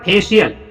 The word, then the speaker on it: facial: देखो सी शब्दों के बीच में आया है और सी के तुरंत बाद आई आया है, तो इस समय सी को तालिब 100 पढ़ा जाएगा। तो यहाँ पे फेशियल का मतलब, इसको बेटा फेशियल होता है, फेशियल का मतलब होता है चेहरे।